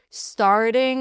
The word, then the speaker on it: starting: Starting over. There's a flat T here.